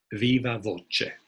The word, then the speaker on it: viva voce: it's often pronounced the closest we have to latin is italian so it would probably be something like viva voce and why is it